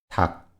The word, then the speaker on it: 닭: 국, 국, 닭, 닭, 국, 국. 리을 기역 is pronounced as 기역.